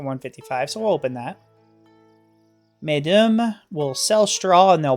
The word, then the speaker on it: Medum: I know it looks like medium, but it is definitely Medum, I want to say. I do mispronounce a lot of things, but I'm pretty sure on that one.